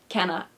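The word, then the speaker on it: Canna: have to say Kaa Cana Cana like Anna but with a c that sounds like a k Cana two I love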